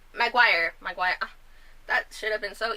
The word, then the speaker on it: Maguire: Maguire.